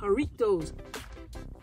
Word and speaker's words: Jarritos: to say it because I used to say you know Doritos like the J is silent it's haritos El Burrito yo they good